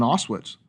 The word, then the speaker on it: Auschwitz: years of his life that he spent in Auschwitz. Right. Is that the correct way to pronounce it?